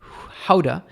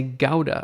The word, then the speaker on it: Gouda: my dependency somehow um gouda is dutch cheese but it's pronounced more like howda but a lot of english speakers say gowda or gouda so basically the joke